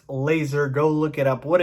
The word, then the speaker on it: Lazor: his name is bill laser yes it is pronounced laser go look it up